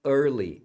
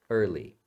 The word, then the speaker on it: early: cedo a pronúncia é early ess essa letra e aqui você não fala e esse a aqui é fechado é er early on weekends a gente